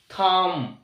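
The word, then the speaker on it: thumb: অর্থাৎ শেষের be silent M এর পরে be silent T এইচ ইউ এমবি থাম থাম অর্থাৎ থাম্প না অর্থাৎ এখানে বি সাইলেন্ট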